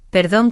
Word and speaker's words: perdón: Sí, hay un detalle de pronunciación. Perdón con la R suave y gracias con esa C como una S en España o como una C suave en muchos países, ¿sabes?